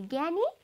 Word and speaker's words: ज्ञानी: त्यस्तै गरी यहाँ पनि ज्ञानी, धनी देख्नुभएको छ, पछाडि चाहिँ नी नी दोहोरिएको छ, तर अगाडि ग्या छ अनि अगाडि ध छ, त्यसैले उच्चारण पनि ज्ञानी, धनी भनेर आएको छ र अर्थ पनि फरक छ।